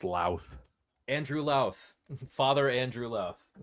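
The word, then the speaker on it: Louth: And then the Eastern Orthodox view, like I said, by Father Andrew Luth. I think he does a pretty good job in this one. It's actually pronounced La.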